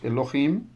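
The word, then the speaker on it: אלהים: Classe A próxima sílaba Elohim o nome de Deus Elohim tem duas sílabas então nós temos aqui a vogal holen e a vogal irek iud então duas vogais duas sílabas mais uma vez nós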